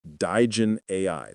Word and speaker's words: Digen AI: that hassle, and the first one is through Digen AI. That's spelled D-I-G-E-N AI, Digen AI.